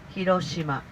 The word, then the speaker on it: Hiroshima: name of this city we say Hiroshima very flat You don't How many people?